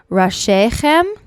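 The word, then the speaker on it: ראשיכם: ends the second line the next line is pronounced rashechem and it means your heads and your tribes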